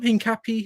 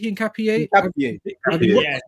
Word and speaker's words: Hincapié: Hincapié. Hincapié.